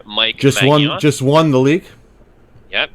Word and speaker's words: Maignan: But we can call him Magnan, so he's a great keeper.